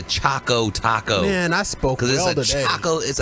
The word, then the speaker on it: Choco Taco: 2020 it's happening with Chico Taco it's Olive ice cream and you're saying it wrong what am I again yes it's not a chico Taco it's a Choco Taco man I spoke Taco